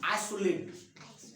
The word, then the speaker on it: आइसोलेट: मैंने आपको बताया था कि ISO जब उच्चारण होगा, जहां कहीं भी रहेगा, इसको ज नहीं करेंगे, इसमें एस का उच्चारण क्या करेंगे? स करेंगे, ज नहीं करेंगे। आइसोलेट है, आइसोलेट नहीं है, ये क्या होगा?